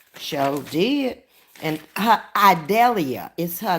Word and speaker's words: Idalia: I think it's IEIA, Idalia. I guess that's the way they pronounce it.